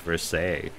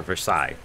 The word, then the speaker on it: Versailles: the finest courtiers of Versailles or Versailles I don't know how do you guys pronounce that I've always heard it in uh history classes Versailles why in fact I